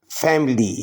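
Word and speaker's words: family: फैमिली, फैमिली में आई silent है, फैमिली, फैमिली, फैमिली ख़ानदान को कहा जाता है।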